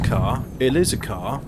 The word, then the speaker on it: Ka: car it's the ford ka yes it's like stop it you're being pretentious it's the ford car it's pronounced car it is a car